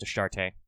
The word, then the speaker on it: Ashtart: They went with the spelling of Ashtart, even though I think it's probably still pronounced Ashtarte. And the A sound definitely is followed by a sh sound, I think.